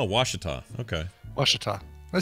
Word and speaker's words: Ouachita: he's from West Monroe he says it's pronounced Ouachita Oh wash it off okay wash it off